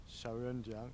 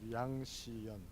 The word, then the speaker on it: Xiaoyan Liang: Xiaoyan Liang. In Korean pronunciation is Yang Xiyan, but Chinese pronunciation is Xiaoyan Liang.